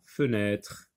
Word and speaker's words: fenêtre: Alors, ça, vous connaissez cette chose-là, c'est la fenêtre. Fenêtre. Feu, oui, je vois le E ici. Je vois un autre E avec un accent. Et un troisième à la fin qui ne se prononce pas.